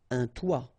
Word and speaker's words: toit: Okay, and then both of them are pronounced like toi. Un toit, toi.